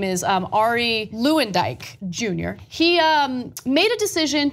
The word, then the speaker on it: Luyendyk: Luyendyk later, Luyendyk, that's how you pronounce his name.